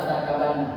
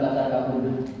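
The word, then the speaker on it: لتركبن: Kalau bacanya latar kabanna, bukan latar kabuna.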